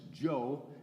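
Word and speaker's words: Zhou: It's pronounced Joe.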